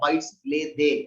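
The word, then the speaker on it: arbejdsglæde: It's pronounced like bites lay they.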